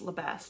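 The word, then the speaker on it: Le Bas: damian labasse i think it's pronounced lebast not the laba um damien labass is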